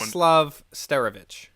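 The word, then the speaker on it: Władysław Starewicz: Vladislav Sterovich.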